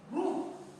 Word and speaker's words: roue: Donc on dit roue. Le E qui a la fin, il est muet, on ne le prononce pas.